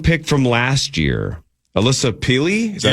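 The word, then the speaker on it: Pili: their first round pick from last year, Alyssa Peely. Is that how you say it? Peely.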